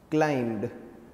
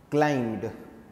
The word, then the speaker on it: climbed: m b e d climbed so it is a past form of climb and when you say climb you do not you should not pronounce it as climb because b is silent so it's climbed so